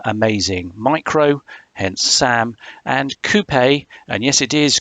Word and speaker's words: Coupé: micro hence Sam and Coupe and yes it is Coupe that's the corect correct pronunciation with the uh the French style pronunciation um Coupe because from the side